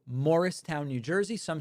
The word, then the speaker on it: Morristown: And I stopped I stopped in an incredible place called Morristown, New Jersey. Some say Marristown, I say Morristown.